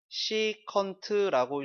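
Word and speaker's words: secant: SEC. 시컨트라고 읽어요. 시컨트. 그 다음에 COT.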